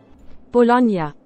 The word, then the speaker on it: Bologna: Bologna.